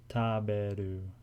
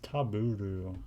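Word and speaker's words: テーブル: Oh, it's Taburu. Oh, I'm a fucking retard, actually. I've been hearing her, I kind of thought it sounded like Taberu.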